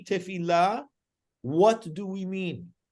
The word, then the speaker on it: Tefilah: we pronounce it is tefila with a strong emphasis on the lamid to kind of show that they're supposed to be two there but there's not two